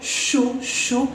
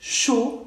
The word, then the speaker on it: chaud: Avoir mal, avoir chaud, tener calor, chaud, es que la D no la pronuncio, y AU es sonido O, chaud, y la CH, chaud, ¿bien?